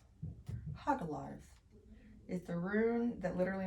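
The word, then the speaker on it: Hagalaz: Pronounced Hagalars. Hagalars is the rune that literally means hailstones.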